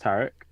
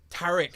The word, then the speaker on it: Tariq: So it's pronounced Tariq. But you're not wrong for saying Tariq. No, please. That's the like popular way. Yeah, I say it like it's like the British, very English way, Tariq.